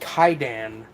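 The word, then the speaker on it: Kwaidan: It's the title is pronounced Kaidan, but the actual title of the film is Kaiwadan, which it's released by Criterion, which I think should be an indicator of the film's quality.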